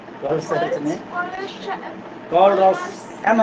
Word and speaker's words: Kohlrausch: कॉलरस लॉ है, कॉलरस लॉ, M नहीं है लास्ट में।